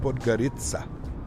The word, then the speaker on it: Podgorica: It's pronounced Podgorica.